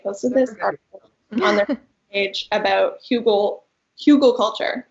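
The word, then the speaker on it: Hügelkultur: this page about Google Google culture I believe it's pronounced which means Hill garden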